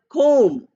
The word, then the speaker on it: comb: Or the word comb. Comb is, B is there again, COMB, but we are not saying.